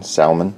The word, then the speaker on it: salmon: Instead of salmon, salmon. No, you do not pronounce the L.